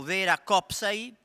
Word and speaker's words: Vera Kopsai: Poi dopo abbiamo Vera Kopsai, finalmente ho saputo che l'accento è sulla prima sillaba, che ci aiuterà eventualmente